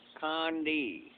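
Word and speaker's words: Conde: Condi. That's how they say it too, Condi.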